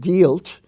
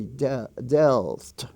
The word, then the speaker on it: dealt: uh the word dealt d-e-a-l-t is not dealt it's dealt and is pronounced like a short e delt were the words bear